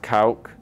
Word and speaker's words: Kauck: right now DT so my last name is pronounced Koch yeah a lot of people